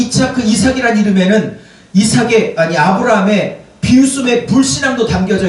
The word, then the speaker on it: 이삭: 이차크 발음을 좀 빨리 해보십시오. 이차크, 이차크, 이차크, 이차크, 이삭, 이삭 이렇게 되지 않습니까?